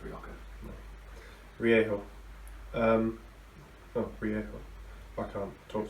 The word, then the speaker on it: Rioja: So I'm on Campo Viejo this week, the Spanish Rioja. And I thought it was Rioja. no, the J is H. I thought it was Rioja.